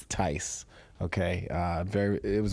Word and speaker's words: Theis: Uh, the H is silent. Very similar to nice. So, Ty. Ty.